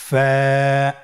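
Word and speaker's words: ف: ফা হরফটি আপনারা স্ক্রিনে দেখতে পাচ্ছেন ফা হরফটি উচ্চারণের ক্ষেত্রে বারিক হবে এবং এক আলিফ টেনে পড়তে হবে আপনারা আমার সাথে আবার বলুন ফা স্ক্রিনে দেখতে পাচ্ছেন ফায়ের মাখরাজ ফা এর মাখরাজ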